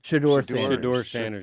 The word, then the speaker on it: Shedeur Sanders: Is that how you pronounce his name? Shedeur Sanders, yeah.